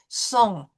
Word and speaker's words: son: So here we have the words with silent consonants at the end. G, M, and the S. And we know from looking at this, it's an AN, so it's going to be nasal.